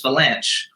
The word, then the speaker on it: Vilanch: How do you say chess? It's not cess, it's chess. You have to pronounce the CH, so Bruce Vilanch.